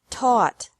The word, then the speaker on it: taught: fought seek sought sought teach taught taught think thought thought remember that the g is silent in these verbs verbs